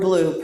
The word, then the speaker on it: BLUU: This recipient this week and last, Black Lives of UU, is Black Lives of UU, or BLUE, pronounced blue.